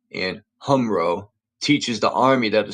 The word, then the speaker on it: HumRRO: be remarkably similar to what is taught at Humro. That's spelled HUMRRO.